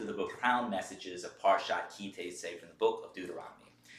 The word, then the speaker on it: Ki Teitzei: Ki Teitzei. And if you're Ashkenazi, you may pronounce it differently, but I'm going to not go with Ashkenazi as normal for today. So we'll just say it's Ki Teitzei.